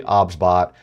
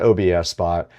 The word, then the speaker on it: OBSBOT: The pronunciation of the product is actually OBSBot. It is not OBS Spot.